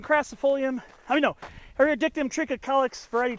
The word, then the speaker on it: trichocalyx: I mean, no, Areodictyon trichocalyx, variety trichocalyx.